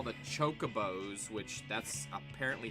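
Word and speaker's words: Chocobo: used to call the Chocos which that's apparently how you say it I used to call them Cuckoos and I still prefer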